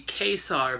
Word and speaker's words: Ka-Zar: Actually, what they do in the first panel of the issue is they give you a pronunciation of how they want his name to be. It's going to be ka-zar, but since I've been